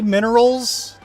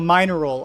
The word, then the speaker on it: mineral: So minor roll. I guess that makes sense, but that's not how it's pronounced. It's pronounced mineral for English campaign.